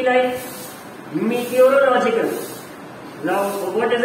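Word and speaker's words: meteorological: तो प्रोनाउंसिएशन हम over the years इसका मेट्रोलॉजिकल है, बट you should remember that मीटियोरोलॉजिकल pronounce आप चाहे जो करिए, बट मीटियोरोलॉजिकल में ये बोलना इसलिए फायदेमंद है क्योंकि otherwise you will be making spelling mistake. मेट्रोलॉजिकल लिखने में आप सिंपली METRO लिख देंगे, which is a wrong spelling.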